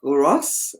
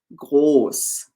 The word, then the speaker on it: groß: So it's not gross, it is groß.